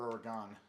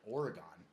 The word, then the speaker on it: Oregon: Oregon or Oregon? Oregon. Yeah, it's Oregon. Yeah. Oregon. And when I was up there, people would always, you'd hear people say Oregon, and I was like, Oregon.